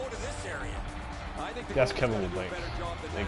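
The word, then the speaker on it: Labanc: I like how the guy pronounces him as Kevin LeBlanc. It's LeBlanc.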